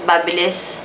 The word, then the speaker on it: Babyliss: By the way, guys, they said it's pronounced as Babyliss. I pronounced it as Babyliss for a long time. Pero Babyliss pala siya. It's a UK brand.